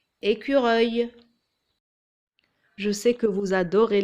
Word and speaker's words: écureuil: Il y a un U après le C et ça se prononce Q, écureuil.